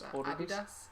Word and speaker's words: Adidas: Because we're doing the European pronunciation of Adidas. It's Adidas.